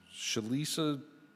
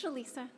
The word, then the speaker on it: Chalisa: know I butchered it all right it's Chalisa my name is Chalisa hi thank you I